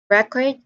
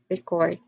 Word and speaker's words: record: So we've identified that when we put the syllable stress on the first, when we put the stress on the first syllable, we identify that particular word as a noun or an adjective. But when we put the stress on the second syllable, we identify that word as a verb, like present, present, record, record.